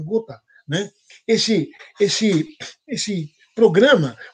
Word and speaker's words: Gotha: Chama-se Gotha, ou Gotha, como se fala em português, mas em alemão é Gotha, né?